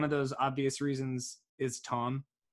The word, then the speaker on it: Thom: One of those obvious reasons is Tom, spelled like Thom, but his voice is kind of an obvious reason.